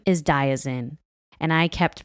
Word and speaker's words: Diazien: His name is Diazien, and I kept pronouncing it Diazien.